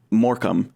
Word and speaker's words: Morecambe: it has tremendous ously changed where now it's moram and and that if you were spelling phonetically uh versus you know the Latin the